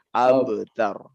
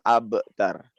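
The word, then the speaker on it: الأبتر: Abtar ini masuk kepada kolkolah yang sugro ya. Jadi bacanya abtar. Jangan mentok ke hamzah. Jangan abtar. Tapi abtar. Baik, ulangi ayat terakhir.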